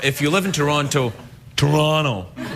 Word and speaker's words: Toronto: Or, if you live in Toronto, Toronto. That's how they say it in Toronto. They don't call it Toronto. They say, when you say, where are you from? They say, oh, I'm from Toronto.